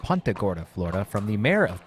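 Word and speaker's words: Punta Gorda: too we learned last year that it is pronounced pagora Florida from the mayor of pagora she uh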